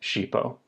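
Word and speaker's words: ŝipo: Esperanto letter H so SX IPO would be pronounced cheapo these will do in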